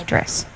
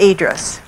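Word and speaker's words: Edris: there's just address just addressed great good question some people pronounce that idris idris oh no but i don't i address is more like the way she pronounced it okay great we have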